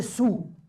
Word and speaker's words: saoul: pas l'écrire le mot il est sous ça s'écrit S a o u l il est saoul pourquoi parce qu'en ocitant on dit il est Sadou on a le D est tombé et c'est devenu